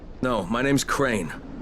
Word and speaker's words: Crane: No, my name's Crane. Crane? Crane rhymes with train and brain and train and grain